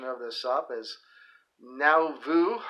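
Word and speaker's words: Nauvoo: of this up is now vu that's n-a-u-v-o-o alabama that's new era wrestling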